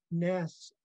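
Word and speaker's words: neis: Yaklanas, Ness. Ness is the old school way of saying house, and we spell it N-E-I-S. And it's really old school.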